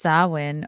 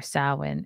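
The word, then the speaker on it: Samhain: read more about there Sam Haan oh pronounced sawin or sawin is a gaic word that roughly translates to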